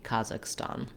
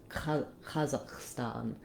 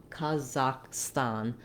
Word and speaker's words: Kazakhstan: talking about the country Kazakhstan. As far as I can tell, in Kazakh and in Russian, you have the same vowel all the way through.